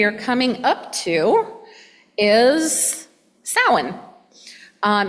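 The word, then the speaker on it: Samhain: coming up to is sin um it is never pronounced Sam hay it is sin uh it is the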